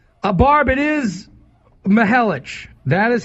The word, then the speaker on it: Mihelich: It is pronounced Mihelich. I am 100% correct. So, Barb, there you go. It is Mihelich.